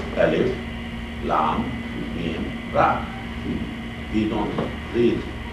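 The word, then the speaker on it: الٓمٓر: Alphabetical letters, individual letters, broken letters, Alif, Lam, Mim, Ra. We don't read Al-Mara like a verb. We don't read, we break, we pronounce each letter differently. Alif, Lam, Mim, Ra, because this is not a kalima, this is not a verb.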